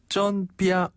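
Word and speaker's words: 真: 그래서 쩐 자체는 맞아요.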